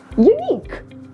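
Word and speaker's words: unique: या फिर एंड में we have to keep letter you silent अब आप इसे प्रोनाउंस कीजिए यूनिक यस the next word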